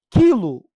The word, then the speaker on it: quilo: o u é pronunciado quilo o u não é pronunciado no quilo mas é pronunciado no aquário